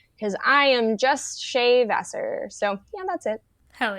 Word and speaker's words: Vassar: SS a r because I am just shave Vasser so yeah that's it hell yeah and you